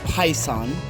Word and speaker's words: PISEN: So with that said, everyone, I'm the PandaPhotographer, and I'm not sponsored by PISEN. So it's spelled P-I like pie, sun, S-E-N.